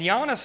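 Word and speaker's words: Jānis: But interesting thing about Giannis, amongst many, many, is he is Latvian, and Giannis is spelled Janis.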